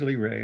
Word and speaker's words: Lyrae: vega and epsilon lyrae how do you pronounce l-y-r-a-e l-ray it is lee ray okay and epsilon that's